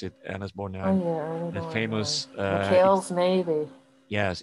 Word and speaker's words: Borgnine: was a very famous movie, and with Ernest Borgnine, as you pronounce it, Ernest Borgnine, the famous McHale's Navy.